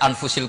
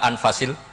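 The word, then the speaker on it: أنفس: saja di sini ditulis anfusil kutub kalau saya baca anfasil kutub karena maknanya kitab ter baik Kalau kitab terbaik bacanya bukan anfus tapi apa anfas ya nanti kamu debat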